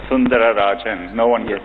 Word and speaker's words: Sundararajan: One of the things I read about you, it said Sundar Pichai is Sundarajan, right? To give you the whole name. It actually was Sundararajan.